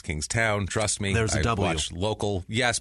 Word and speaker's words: Kingstown: Kingstown Rhode Island and it's king toown not King tin it's King Town trust me watch local